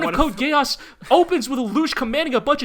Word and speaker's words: Geass: by the meme, but it is pronounced Geass. It is not Gaiass. Is it? All yes, right. Absolutely. They say Geass in the show.